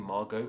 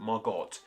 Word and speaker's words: Margot: think is strangest anyway that being the te at the end of the name Maro now there is a of this name without the te there but the version with the tea is far more popular and of course we don't say this name isn't Margot it's Margo so why is that